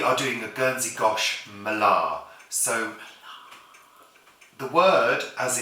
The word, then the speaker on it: Mélée: It isn't pronounced Malay. It's pronounced malar in Gernzi French.